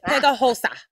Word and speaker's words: Pegajosa: But it's Pegajosa.